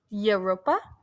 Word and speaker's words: Europa: Europa, that's how you pronounce it.